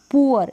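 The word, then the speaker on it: poor: अब यहाँ पर जैसे ऊ, यहाँ पर ऊ, पुअर, इसमें डबल ओ को ऊ प्रोनाउंस कर रहे हैं, यहाँ पर पुअर हो गया।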